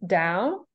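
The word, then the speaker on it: Tao: right here it's it's ta AO but it's pronounced Dao da Ching yeah and it's it's 81 chapters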